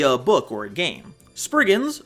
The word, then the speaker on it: Spriggans: Spriggans, or as I learned how to pronounce them in research, Spriggans, are fairies of Cornish